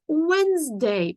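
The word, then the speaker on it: Wednesday: Wind Day it is whens Day пам’ятаємо що літера D не читається it is whens Day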